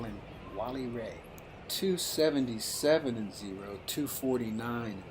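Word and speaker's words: Rehg: r e g h I believe the German pronunciation is Ray I we'll call him Wally Ray 277 and0 249 and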